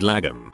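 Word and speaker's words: lagom: hot porridge i like the swedish word lagam pronounced almost log on but with an m at the end since it really can't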